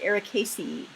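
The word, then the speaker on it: Ericaceae: latin anymore um so the way that i pronounce this is eric casey or casey sometimes i make it sloppy and say like eric casey um then then the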